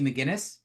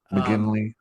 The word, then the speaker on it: McGinley: McGinnis, which was a big change for him. Comedy. McGinley.